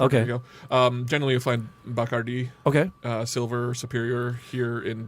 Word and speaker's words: Bacardi: Bacardi. The accent is on the I at the end.